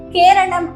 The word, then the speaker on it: கேரளம்: Okay, இந்த எழுத்துப்பிழை எதனால வந்துச்சு அப்படின்னு சொல்லி பார்த்தீங்கன்னா, பிரிட்டிஷ்காரர்களுக்கு இந்த வார்த்தையில முடியக்கூடிய பெயர்களை சரிவர உச்சரிக்க முடியாது. அதனால அவங்களுடைய வசதிக்கு ஏற்ப மாத்திக்குவாங்க. இதுலதான் கேரளம் அப்படின்றது கேரளா அப்படின்னு ஒண்ணு ஆச்சு.